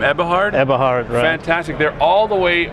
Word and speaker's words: Eberhard: now how do you say your last name eberhard fantastic they're all the way from germany we're